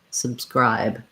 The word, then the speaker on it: subscribe: first syllable subscribe subscribe so you'll hear that my b's my sounds aren't really necessarily subscribe with a strong release subscribe that first b i basically close my lips to make it but then i release right into the s subscribe subscribe so um stay light and uh unstressed on those b sounds then when we